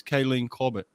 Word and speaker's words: Kaylene Corbett: maybe is a little bit overlooked is is kayleen corbett is that how you pronounce her name that's right i mean what